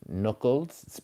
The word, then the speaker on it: knuckles: So we have knuckles. Check the spelling. The K is silent here.